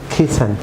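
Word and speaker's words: crescent: যেমন ক্রিসেন্ট, viewers এখানে C silent থাকবে, ক্রিসেন্ট।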